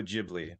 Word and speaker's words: Ghibli: we can so the the basic pronunciation is Studio jibli or jibli Studios and it's a word